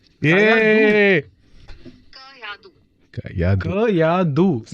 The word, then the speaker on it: Kayadu: Kayadu, not two, right? Somebody was saying two. No, two is not there.